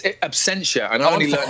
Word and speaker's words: Absentia: It's Absentia, and I only learned how to say it after the first season, Ed.